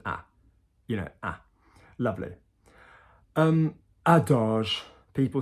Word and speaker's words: adage: So not adage, adage. Soft G, because G followed by an E and an I in French is soft.